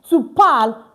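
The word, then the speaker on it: tu parles: The s is silent. You see that to pal meaning you speak or what?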